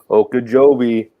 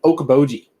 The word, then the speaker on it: Okoboji: Okeechobee. Is that how you say it? Okeechobee? Lake Okoboji. Okoboji. Spirit Lake. I was missing the B.